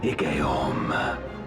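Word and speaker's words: Igeyorhm: The Ascian Igeorm.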